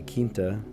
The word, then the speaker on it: quinta: Heaven help me if they pronounce it quinta. No, I would say quinta, like La Quinta, like the not the restaurant, the hotel chain.